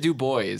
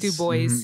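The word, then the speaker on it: Du Bois: you wait who oh i think he pronounced it do boys do boys yeah he was like sexy sounds like the wrong pronunciation but i think it's the right thing he was like [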